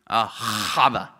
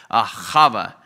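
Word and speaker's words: אהבה: The word love here is the Hebrew word Ahava. Ahava. Say it like that. Ahava.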